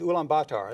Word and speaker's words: Ulaanbaatar: The capital city is Ulaanbaatar.